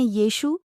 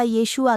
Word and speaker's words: यीशु: prophet माना जाता है इब्रानी में उन्हें यीशु यीशु या यशुआ कहते थे परंतु अंग्रेजी उच्चारण में यह जशुवा हो गया यही जशुवा बिगड़ करर जीसस हो गया आओ जानते हैं